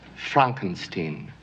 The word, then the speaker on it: Frankenstein: new ish dr frankenstein my name it's pronounced frankenstein right dr frankenstein next to